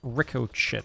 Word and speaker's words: ricochet: It's pronounced ricochet.